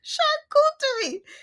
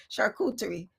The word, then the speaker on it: charcuterie: Charcuterie. Charcuterie. I'm going to remember that. See, and that's the thing. Like, that's exactly how it sounds, but that's not how they spell it. They have this fancy CHUR.